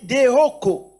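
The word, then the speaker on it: διώκω: Vous savez que ces mots persécution, dans la Bible, ces mots signifient Deioko, mais ça s'écrit Dioko, donc D-I-O-K-O, mais ça se lit Deoko.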